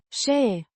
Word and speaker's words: Și: Și, a conjunction meaning, and, pronounced, shee, similar to the she in English, but with a slightly shorter and less emphatic sound.